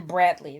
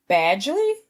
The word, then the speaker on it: Badgley: name in real life earlier I said his name was pin Bradley that's his name it's Badgley badly pen he said it right from you no there's no R in his name name badley pen badley